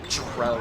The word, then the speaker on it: drow: There's a I think they call them drow in this. It's spelled D, which is like the dark elves and like other fantasy media, but it's they pronounce it trow in this game.